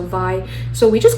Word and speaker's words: vai: term called vi and if i were to spell it out for you it's vai but in our tribal language we have the ah like the spanish v-r-e so yeah i would be e so vi so we just call